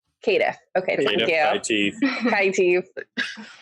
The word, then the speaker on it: Caitiff: I will be playing Cecilia Hinault, forgive me for the mispronunciation, Caitiff? Caitiff.